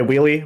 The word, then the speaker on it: WheelyF: I go by Wheely. My real name's. F is silent. You can say it, but I usually self-refer as just Wheely.